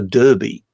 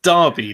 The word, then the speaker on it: Derby: to it as a derby. So not only do they name it after a town in England, yes, right, but they even mispronounce it. Yes, it's Derby, not Derby.